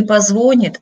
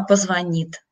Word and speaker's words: позвонит: Если мы говорим на русском языке, то очень важно произносить слова правильно, правильно делать ударение. Не позвонит, а позвонит, ну, например, да.